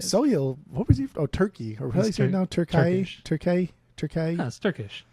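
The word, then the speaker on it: Türkiye: It's like T U R K A Y E. It's like I Y E or something, but it's still pronounced Turkey.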